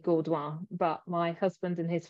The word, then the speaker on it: Gaudoin: Well, Gaudoin is how we say it, but Gaudoin should be properly.